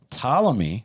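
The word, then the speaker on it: Ptolemy: Talamy, which starts with a P. Yeah, P is silent, was a was a boyhood friend of Alexander's, a Macedonian noble and a phenomenal warrior.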